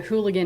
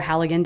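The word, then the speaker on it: Halligan: it end quote so what a hooligan is or a haligan depending on on how you say it is a breaching tool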